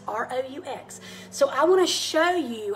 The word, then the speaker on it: roux: Every good macaroni and cheese begins with a roux. And roux is spelled R-O-U-X.